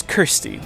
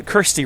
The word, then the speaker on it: Kirsty: The name's Kirsty with a K. Uh, Kirsty rhymes with thirsty, if you know what I'm saying.